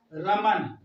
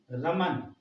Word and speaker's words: रमन: पड़ेगा, रा मा न, रमन, रमन, रमना नहीं, रमन।